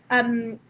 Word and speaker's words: Ybbs: Ibs. Okay. Am I pronouncing that right?